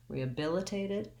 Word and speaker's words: rehabilitated: from vowel to vowel so re uh bill is my stress syllable that's where i want to have my length i do have the lacs vowel there but it'll be longer than the other vowels later in the word because it's stressed rehabilitated and then i have another relaxed vowel here a clear a vowel on the tape syllable rehabilitated that first t